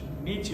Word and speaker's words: Nietzsche: So, I always say his name wrong. Nietzsche, thank you. Yeah, I always want to put the E on the end.